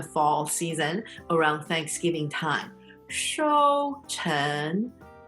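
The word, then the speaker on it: 收成: 收成, first tone, second tone. 收成.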